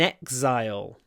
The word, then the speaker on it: exile: The next one He spent the rest of his life in exile. So here the ex is pronounced with a z so it becomes like exile egg something like that.